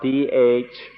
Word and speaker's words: Dhatu: In English, it's usually spelled D-H-A-T-U, and so I sometimes say Dhatu. In Thai, it's pronounced Thatu, so that's why I mix these up.